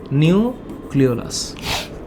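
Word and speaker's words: nucleolus: উচ্চারণটা কি? এইটার নাম হচ্ছে ক্লিওলাস, নিউক্লিওলাস।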